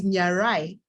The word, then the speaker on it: Nyarai: It is easy for me because my third name is Nyarai. Nya. So Nya, because when I looked at it, I thought it would be pronounced Nga, but it's actually Nya, and my name is Nyarai.